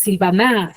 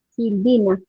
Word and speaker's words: Silvina: pronuncias tú dices Silvina Dónde está la mayor fuerza de vz en la si HM en la i en la pi Entonces se encuentra en la penúltima sílaba y al estar en